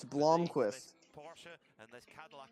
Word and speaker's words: Blomqvist: It's Blomqvist. This Porsche and this Cadillac at the Bloom. front, they are just so strong. It's Blomqvist.